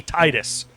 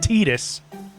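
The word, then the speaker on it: Tidus: It will It will forever be Titus, not Tetus.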